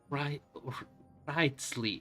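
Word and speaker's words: Wriothesley: Wrightsley. It's the problem. Like, you read W-R, then T, and then Lee.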